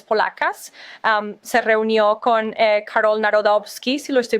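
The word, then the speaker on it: Nawrocki: se reunió con Carol Narodovski, si lo estoy pronunciando correctamente. Si, Narodovski.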